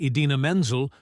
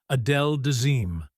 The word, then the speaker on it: Idina Menzel: At the 2014 Academy Awards, John Travolta was tasked with introducing Idina Menzel to perform Let It Go. Instead, he famously mispronounced her name as Adele Dazeem.